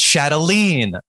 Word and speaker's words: Chatelaine: at the base fresh it's pronounced chatelene i've sorry just really